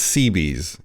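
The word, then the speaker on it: Cebes: how to say it it's it's seabees in english i think i think the original greek it might be something different but we're gonna go with seabees so i hope you guys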